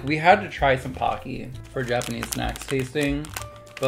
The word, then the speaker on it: Pocky: absolutely incorrect i don't like that at all pokey but apparently that is how you pronounce it goodbye goodbye everyone thanks for tuning